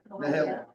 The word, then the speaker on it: Mahalia: And it's also north of Mahalia Road, or Mahalia, I guess it's pronounced? Yeah. Mahalia.